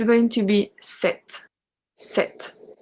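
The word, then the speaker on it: cet: we are going to use set as well pronounce the exact same way as the feminine one this man set so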